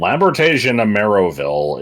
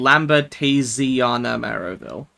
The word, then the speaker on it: Lambertasiana Maroville: Yeah, and Lambertasian Ameroville is it's really awkward to pronounce because you want to say Tasian, but it doesn't really work. It's supposed to be Lambertasiana Maroville.